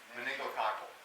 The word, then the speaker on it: meningococcal: And then if you, how do you pronounce that? Meningococcal.